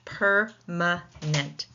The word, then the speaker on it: permanent: The first syllable takes the stress.